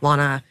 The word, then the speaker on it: Lana: So Lana Condor, did I pronounce that right? It's Lana. Lana.